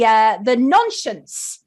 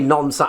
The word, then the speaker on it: Nonscience: Now, Brian has done an updated version of the Nonscience book from 1971. Did I pronounce that correctly, Brian? Yes, you did. The Americans always say nonsense.